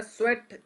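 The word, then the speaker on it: sweat: स्वेट भी बोल सकते हो। तो उस शेयर का नाम होता है स्वेट equity share. Spelling स्वीट है। एस डब्ल्यू ई ए टी स्वीट लेकिन पढ़ा स्वेट जाता है।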